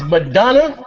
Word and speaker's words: Madonna: But it's Madonna, like Madonna the pop singer.